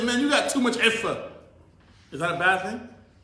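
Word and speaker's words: عفة: Iffa? It's spelled with an ayn, but you would say like I-F-F-A.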